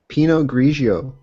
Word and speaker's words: Pinot Grigio: So that's how you pronounce it. Yes. Pinot Grigio.